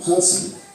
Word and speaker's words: person: In the word person, the first syllable is stressed, and the second syllable has a schwa sound.